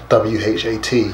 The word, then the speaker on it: what: okay like um what w-h-a-t you you know think of it like w-o-t right but what so words like that